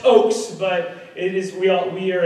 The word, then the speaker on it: Ochs: It's pronounced Ochs, but it is we are in the same group there.